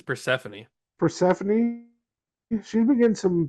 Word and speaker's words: Persephone: I think it's Persephone. yeah, I think it's Persephone.